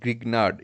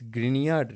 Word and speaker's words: Grignard: again I'll tell you it's not grignard it's grignard reagent because it's a German name it's a proper noun so we have to pronounce it according to that so what